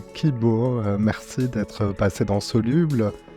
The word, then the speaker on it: Qi-Bô: Hélène Nal-Martin, donc cofondatrice de Kibo, cela s'écrit en 2 mots et ça s'appelle Q-I, plus loin B-O, accent circonflexe. Cela sonne comme le mot espoir en japonais. En fait, Kibo en japonais, Ki-B-O, donc